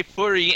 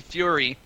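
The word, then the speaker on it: Fuhry: The H is silent in his name, so he puts it like that, and I always have to remember that because I always want to say Fury, and it's actually Fury.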